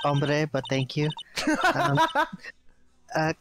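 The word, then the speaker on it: hombre: hey yeah makes sense a was that uh hbre a friend of yours it's pronounced ombre but thank you um uh kind of sort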